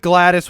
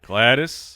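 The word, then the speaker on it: Gladys: with a name that doesn't even look like it's spelled correctly glattus oh glattus I'm going with glattus which is g l a d Ys because we can do that we're allowed to do that glattus so glattus is my final pick to join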